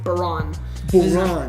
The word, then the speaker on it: Bahrain: It's not till this weekend, and I finally knew how to pronounce it as Bahrain. It's Bahrain.